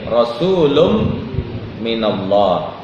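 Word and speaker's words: رسولٌ من الله: dengan albayinah rasulum minallah kenapa pakai tanwin bacanya rasulum kera tanwin ketemu dengan mim rasulum minallah pertama tanwin itu menunjukkanrim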